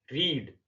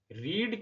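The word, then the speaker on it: read: यहां पर ध्यान देने वाली बात यह है कि रीड की तीनों फॉर्म्स की स्पेलिंग एक जैसी है, लेकिन इसकी सेकंड और थर्ड फॉर्म को रेड पढ़ा जाता है।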